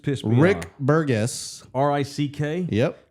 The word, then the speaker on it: Rick: R-I-C-K? Yep. Rick as in rhymes with Dick.